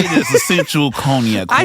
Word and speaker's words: Cognac: learned I'm very white and the way I pronounce cognac is very wrong I have not listened to enough rap songs so how do we pronounce your podcast name conac corner conac conac conac like con Island almost yeah yeah yeah